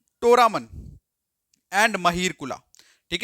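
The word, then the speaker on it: मिहिरकुल: एक चीज बताता हूं ये जो ए लिखा होता है ना लास्ट में अगर हम इसे प्रोनाउंस करें तो आता है ये बनता है महीर कुला ठीक है बट इसका एक्चुअल में जो है वो महीर कुल होता है अच्छा ये जो ए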